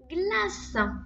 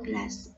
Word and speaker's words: glace: Rappelle-toi, le C, quand il est devant le E ou le I, hein, il se prononce S. Il fait que dans Caroline, mais il fait ce dans glace.